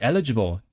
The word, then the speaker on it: eligible: Stress should be on the first syllable.